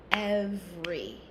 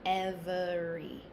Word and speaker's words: every: Most uh native speakers will say this word as every, not every, but both pronunciations are okay.